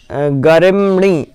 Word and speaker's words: गरिम्णि: यहाँ पर थोड़ा सा जो एक कृतिनो गरिम्णि, गरिम, गरिम्णि, गरिम्णि बोलना है, गरिम्णि। ये शब्द थोड़ा सा लगेगा आपको, गरिम्णि, माँ भी है और णा भी है, तो गरिम्णि, गरिम, गरिम, गरिम्णि।